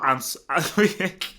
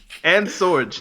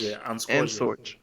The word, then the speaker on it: Sorge: Oh yeah, is it Ans? And Sorge. It's like it rhymes with George. And Sorge.